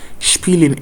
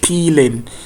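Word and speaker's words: spielen: So now let's pronounce it. Peeling to play. Speling s with consonant sound like this. SP. It's not. So not speling but peeling.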